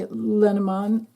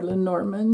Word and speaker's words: Lenormand: using the I Dreaming way lenamon or L Norman if you prefer to pronounce it that way again this one's for